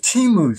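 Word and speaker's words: Temu: the name Rachel okay she said it's simply t-u M all right so I thought well you know what in instead of spending 35 bucks let's see if Teemu sells that kind of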